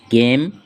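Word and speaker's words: game: আবার জি এর পরে এ, ও, ইউ থাকলে জি এর উচ্চারণ গ হয়। যেমন জিএএমই গেম, জিও গো, জিইউএন গান।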